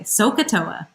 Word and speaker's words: sohcahtoa: so ah oh and I will say it that way sohcahtoa sohcahtoa and you have to pronounce it like that so should I get